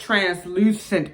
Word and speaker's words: translucent: to my attention that I've been saying it wrong it's translucent powder not transferred to a powder but even though we